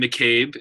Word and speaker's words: McCabe: up there but uh my name is pronounced Bryan McCabe MCCA bees my last name and I share with everybody you can call me Bryan or dr.